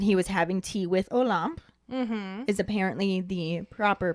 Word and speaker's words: Olympe: Hagrid explains that he was having tea with Olympe, is apparently the proper pronunciation according to the YouTube video that I watched, because I was saying Olympe or Olympia, I didn't really know how to say it.